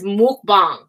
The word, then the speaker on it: mukbang: with chunky chunky monkey chunky whatever she says mukbang that's how you say it but whatever I